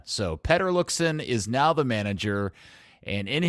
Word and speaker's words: Peter Luccin: about, because since the last time we spoke, Petter Luccin. By the way, we have to just officially establish from the beginning that for the last, I don't know, 10 years, we've all been calling him Peter Luccin, and I swear, at one point when I